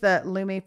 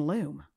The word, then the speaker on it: Lumi: We were saying loom. It's wrong. It's Lumi, which is fancier.